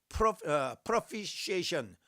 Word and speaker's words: propitiation: 그래서 이거 또 이런 말을 쓰는데, propitiation, 요 T는요 발음을 안 해요. 묵음이에요.